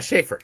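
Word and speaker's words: Schafer: I don't know how to pronounce her last name correctly. Brown. Hunter Schaefer. Is it Schaefer? Yeah, Schaefer.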